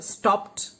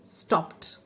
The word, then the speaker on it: stopped: example we learn that the suffix ed can be pronounced in three different ways ta as in stopped and stopped is wrong pronunciation the as in played the played right and id as in wanted wanted wanted wanted wanted is a wrong pronunciation okay uh girls were